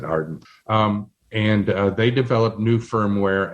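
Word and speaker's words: AREDN: formed a group called arden a-r-e-d-n pronounce it arden and they developed new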